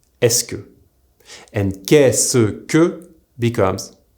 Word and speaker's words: est-ce que: Se becomes the single s sound. This is why est-ce que is pronounced est-ce que, and qu'est-ce que becomes qu'est-ce que.